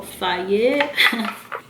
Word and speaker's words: Faye: It even says right here how to pronounce it, so Faye.